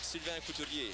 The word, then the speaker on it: Sylvain Couturier: Sylvain Couturier, yeah. Whoa. Sylvain Couturier. Okay. It's the R. We pronounce the R more than you guys.